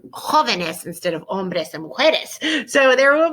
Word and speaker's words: hombre: la mujer la mujer now back to el hombre for one second remember we need to do that silent H el joven lock oven